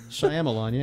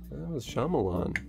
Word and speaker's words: Shyamalan: we don't know either directed by M night Shyamalan yeah that's how you pronounce it really I'm alone yeah Shyamalan now it's SH hold on Shyamalan sh Y